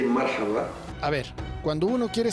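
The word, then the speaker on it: مرحبا: Hello, you can say marhaba.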